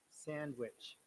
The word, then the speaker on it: sandwich: have got also lesson sandwich remember in sandwich d is silent sandwich so in handsome as